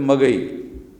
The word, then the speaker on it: मगही: बोली जाती है तो मगही। तो वो शुद्ध भाषा में कहा जाए तो मगधी, मगर वो मगधी में उसका उच्चारण मगही कहते हैं।